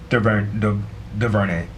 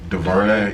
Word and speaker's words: DuVernay: It was created by Ava DuVernay. DuVernay, yeah. I think that's how you pronounce you, Ava.